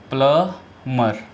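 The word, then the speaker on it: plumber: ऐसे, प्लमर, प्लम्बर। ठीक है, जो सही इसका उच्चारण है वो प्लम्बर है।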